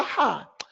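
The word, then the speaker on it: ح: You bring your tongue backwards and it causes the sound. We call it a Ha.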